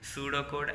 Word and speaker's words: pseudocode: C from different between pseudocode and source code. First, we know about pseudocode. What is meant by pseudocode? Pseudocode, pronounced as su, DOH do, and KOHD code, is a detailed yet